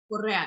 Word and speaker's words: Correa: So, am I pronouncing it right, Correa? Correa, yeah.